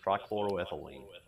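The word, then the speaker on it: trichloroethylene: technical uh names but tce triclo ethine I can't say it say it for me you got close you got close Tri chloroethylene okay gotcha yeah I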